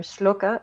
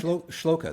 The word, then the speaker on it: shloka: sutra from you or sloka sloka or shloka how do i say it right shloka that's correct yes well pronounced is that